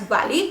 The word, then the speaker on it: Bali: the wife of Vali or Bali I think it's Bali some people also pronounce it as Vali I never thought that